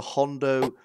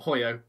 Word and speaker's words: Hoyo: George, you know you pronounced that wrong. We've literally done a video on that cigar. Have I done it wrong? Yeah. Well, Hoyo. We've done a video on that cigar. I said Hoyo, didn't I?